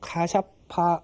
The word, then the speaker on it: 카샤파: 오늘은 우르벨라 마을에 이르신 부처님께서 가습 삼형제 카샤파라고 이제 그 인도식으로 발음이 되죠. 이 삼형제를 교화하시는 모습을 함께 살펴보도록 하겠습니다. 이 우르벨라에서도 가장 큰 집단, 수행 집단이 바로 카샤파 삼형제에 의해서 리더되고 있다.